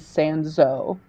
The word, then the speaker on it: Sanzeau: We're getting a little pronunciation correction. It is Sanzeau.